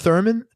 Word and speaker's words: theremin: oh a theramin yeah it's pronounced Thurman theremin yeah theremin yeah yeah that's like the